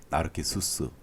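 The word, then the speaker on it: Narcissus: 뭐 언뜻 이렇게 아시겠지만 나르시스에서 나오는 중요 인물들 테레시아스라든지 그의 어머니 릴리오페, 그리고 나르시스의 그 라틴어 발음이 나르키수스, 이 정도는 교양으로 알아두셔도 좋을 것 같습니다.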